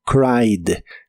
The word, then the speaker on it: cried: Es regular, así que en el pasado termina con ed, pero solo se pronuncia la D. Suena como cried, cried.